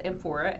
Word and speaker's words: amphora: evaporate out so it lasts longer and that's amphora a m p h o r a and